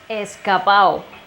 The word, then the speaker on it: escapao: In Cuban slang, when we have a word that ends with the syllable ado or ada, we tend to omit the D sound. We connect the two final vowels.